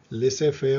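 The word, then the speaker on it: laissez-faire: French है, इसका pronunciation में लिसे फेयर पढ़ते हैं।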